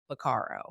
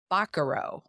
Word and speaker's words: Bacaro: We have been pronouncing this place Bacaro. Yes. I think everyone in St. Louis is pronouncing this Bacaro. It is, in fact, Bacaro.